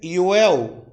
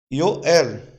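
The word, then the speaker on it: יואל: Joel, no hebraico, é Yoel, ou Yoel. No hebraico, Yoel. Como que se escreve no hebraico?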